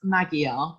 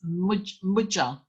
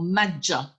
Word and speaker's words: Magyar: And I know you want to pronounce that as Magyar, but in fact, the G and the Y are a J sound. So it's Mudja or Madja Secessio.